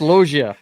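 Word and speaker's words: Loggia: It's not French, you know. He's Italian, not French. I understand that, but it's pronounced Logia.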